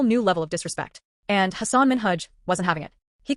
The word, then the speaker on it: Hasan Minhaj: Because everyone that says your name says Hasan Minhaj. Yeah, but the real way you pronounce it, and this is a big deal because my parents are here, it's Hasan Minhaj.